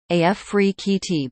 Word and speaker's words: Afrekete: at work from home jobs pronounced AF free QT before we get started